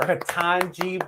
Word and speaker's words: Ketanji: Like it's 3 syllables.